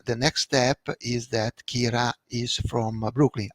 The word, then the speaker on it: Kira: next step is that Kira is from Brooklyn. I pronounce it Kira because I know that in English it sounds Kyra, but Kira is a